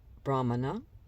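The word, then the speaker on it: brahmana: of haa Yoga practices Brahman longana and Sal all accented on the first syllable I'm going to be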